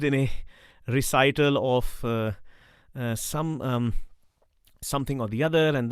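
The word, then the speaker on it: Aum: who may not know om is not om it's a u m it's um so both allah and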